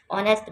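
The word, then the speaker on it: honest: ठीक है, ऑनेस्ट girl, H silent है, आ की साउंड आ रही है अली मदा की तो इधर एन यूज़ होगा।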